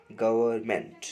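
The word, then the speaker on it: government: 27 का डी हो जाएगा, गवर्नमेंट, लेकिन एन साइलेंट रहता है, एन होता है इसमें ज़रूर है।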